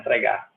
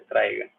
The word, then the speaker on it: traiga: vogal certo traiga traiga não é traar é traiga que é o verbo trazer traer traiga só que